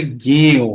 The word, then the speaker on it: জ্ঞেয়: জ্ঞেয়, এই কথাটি যখন আমরা পড়বো তখন এটির উচ্চারণটা হবে জ্ঞেয়।